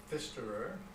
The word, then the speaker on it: Pfisterer: Tell us the last name and spell it, please. Okay, last name is Pfisterer, P-F-I-S-T-E-R-E-R, which is of Swiss origin.